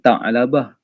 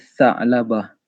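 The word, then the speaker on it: ثعلبة: Dia sebenarnya ejaan dengan huruf sa. Sa nipis tu. Sa'labah. Dia bukan ta'labah. Dia Sa'labah.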